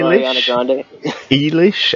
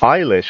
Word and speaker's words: Eilish: yeah so Billy Hite ela Sh how do you say it it's Irish Eilish I've been saying it as ela sh this whole time yeah like you know Billy eyelash there you go but